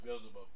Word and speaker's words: Beelzebub: Is it Beelzebub? I almost got it. Baby steps. Yeah, it's Beelzebub.